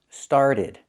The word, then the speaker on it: started: It's pronounced started. Started. This is a difficult word to pronounce correctly. Started. You can say started, but Americans don't. They change that T to a fast D because it's after an R and before a vowel.